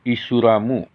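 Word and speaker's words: イスラム: Di dalam bahasa Jepang, Islam disebutkan Isuramu. Pengucapannya bisa Isuramu, bisa Islam. Karena orang Jepang di dalam penulisannya tidak ada L, sehingga Islam ditulis Isuramu, Islam.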